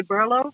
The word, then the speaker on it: BRLO: name of berlin um we ourselves we say berlo like berlin but uh we definitely